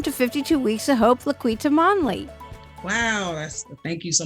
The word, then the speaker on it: La'Quita: i mispronounced your name it's laquita okay i wasn't sure how to pronounce the cue okay did great though